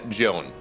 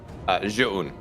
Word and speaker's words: Zoun: fast, if something big is happening, it's then Joan or Zoun or Zoun, whatever we do when we actually just kind of screw the name up. But yes, traditionally, or it actually should be pronounced Zoun.